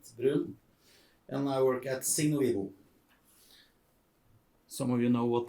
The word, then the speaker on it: Signo Vivo: How do you pronounce that? Signo Vivo. Signo Vivo. Thank you. You pronounce it in Norwegian, of course.